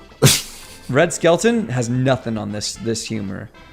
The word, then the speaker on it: Skelton: Who the fuck is Red Skeleton? Red Skelton. He's a older comedian. Red Skellington? Skelton, I believe is how it's Skellington?